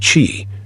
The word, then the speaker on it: qi: The Taoists spoke of qi, pronounced qi, a vital force that permeates all of existence,